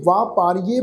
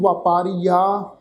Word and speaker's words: ਵਾਪਾਰੀਏ: ਇਹ ਵਾਪਾਰੀਏ ਪਾਠ ਹੈ, ਇਹਨੂੰ ਵਪਾਰੀਆ ਜਾਂ ਵਪਾਰੀਐ इस ढंग नाल नहीं प्रनाउंस करना।